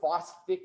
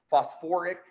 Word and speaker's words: phosphoric: Instead of sulfic acid or phosphic acid, we added that UR, that OR in there. Phosphoric, sulfuric.